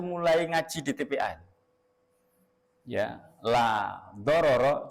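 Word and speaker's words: لا ضرر ولا ضرار: Saking terkenalnya itu sudah diajarkan tuh mulai ngaji di TPA ya la dororo jangan sampai salah ini ya salah pengucapannya. Dororo itu ya pendek semua. Laanya yang panjang laoro wala diroro ya.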